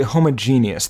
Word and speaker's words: homogeneous: It's pretty homogeneous.